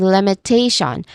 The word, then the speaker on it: limitation: a dip thong sound and then of course the t i o n spelling it sounds like shun. So this is limitation with t the third syllable as its emphasis here.